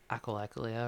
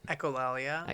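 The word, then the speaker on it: echolalia: that you would like what is it the echoia or however you pronounce it. Echolia.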